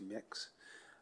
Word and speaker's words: Mx: On a different topic, and this is with respect to the use of the gender-neutral title or honorific MX, which I believe is pronounced mix.